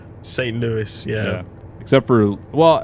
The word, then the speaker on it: St. Louis: We're in America. But we say Lewis. St. Louis.